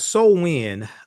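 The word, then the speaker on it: Samhain: So, you have so wind um uh spelled s a m h a i n but pronounced s o wen.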